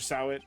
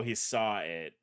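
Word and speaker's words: Sahwit: Sawit? Or should I say, Mr. Did it? Oh, he saw it. I've been saying his name wrong like a fucking idiot.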